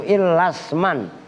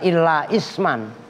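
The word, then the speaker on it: إِلَّا اسْمًا: Nah, bacanya begitu, illasman, bukan illa isman. Karena hamzahnya hamzah wasol.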